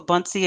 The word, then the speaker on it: Buncee: to his work so just wanted can you pronounce the name for buncee again a few people want to know the